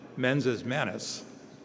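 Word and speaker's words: mens et manus: We pronounce it menses manus, but Hank says, make things, learn stuff.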